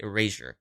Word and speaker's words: Erasure: this uh okay so it seems like it might be pronounced eraser uh at least I watched the interview right here a short little clip where they were saying the name um he said that maybe eraser head was kind of an early inspiration for it but really it could mean whatever you want it to mean and they were pronouncing it eraser so we're going to